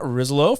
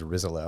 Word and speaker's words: Rizzolo: name solo so uh like the american version is rizallo and that's what i say but if you go